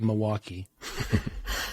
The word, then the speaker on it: Milwaukee: Well, I'm from Milwaukee. Without the L, that's how we say it, Milwaukee.